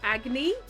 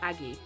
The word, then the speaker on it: Agni: and he grows fangs, he can't pronounce Agni's name because of his new fangs, so he calls her Aggie, which she hates.